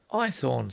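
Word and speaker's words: Haythorne: Ithorn, sir. Eythornne. Spell it.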